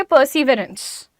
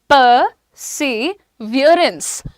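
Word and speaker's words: perseverance: अब इसको आप सिंपल देखोगे तो आप बोलोगे परसिवरेंस. परसिवरेंस, परसिवरेंस बोलते हैं ना, लेकिन इसका प्रोनाउंसिएशन इज परसिवियरेंस. परसिवियरेंस.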